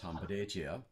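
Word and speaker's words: hanbleceya: And so he honored us with the invitation to come out to Bear Butte and participate in Hambletia, which in Dakota is pronounced Hambletia, which is of course the Vision Quest.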